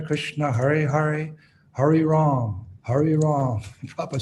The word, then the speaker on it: Rama: You're leaving you're chanting Ram, not Rama. Hare Rama, when we sing, Hare Rama, Rama Rama, Hare Hare. You're chanting Ram. You have to, Rama, every syllable.